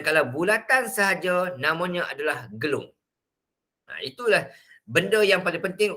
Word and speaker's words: gelung: Dia ada dua ejaan. Satu gelung L-U-N-G, satu gelung adalah L-O-N-G. Itu panggil gelong. Gelong maksudnya tak betul lah, gila.